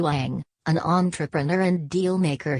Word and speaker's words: Wang: Wang and his family mr. Wang pronounced Wang was a controversial figure